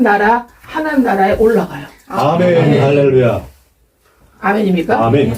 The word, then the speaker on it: 할렐루야: 이런 할렐루야 하고서 이게 우리가 원래는 할렐루 할렐루이야예요. 원래 할렐루이야. 근데 우리가 발음할 때는 할렐루야라고 이렇게 우리가 하나님께 영광을 돌릴 수가 있는 거예요.